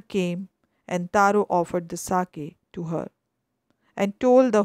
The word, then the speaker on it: sake: Sake, a popular Japanese drink. Sa is pronounced like fa in father, and ke rhymes with way. So it's sa ve, fa ve.